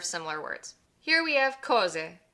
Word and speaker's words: cose: Here we have cose. Just like before, the stress falls on the penultimate syllable, and why? Because there's no accent on the word. So this is cose.